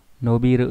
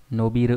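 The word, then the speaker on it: 伸びる: Nó đọc là gì đây? No. Nobiru đây này. Đấy, giãn ra đấy. Nobiru nhá.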